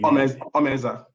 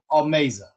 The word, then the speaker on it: Omeza: Omeza. Omeza. Correct. Like Amazing Grace.